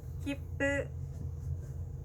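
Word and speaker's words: 切符: 자, 키프, 표라는 단어는요, 그 입술이 모였다가 발음이 나기 때문에 받침도 비읍 받침처럼 소리가 납니다. 자, 같이 따라해 볼게요. 키프, 키프.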